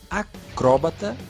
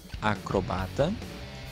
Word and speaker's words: acróbata: Algumas delas são acróbata ou acrobata, xerox ou xerox, réptil ou repetiu, zangão ou zangão, projétil ou projetil, boêmia ou boemia.